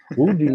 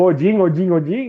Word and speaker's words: Odin: Que a nossa pronúncia aqui de Brasil é totalmente errada, né? Udin, né? Que a gente vê lá, o Odin, né? É o Udin, né?